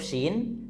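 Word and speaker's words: ش: su as is us dan saat nyebut huruf syin dekatkan Tengah lidah kita ke langit-langit tengah SY Sya SY syu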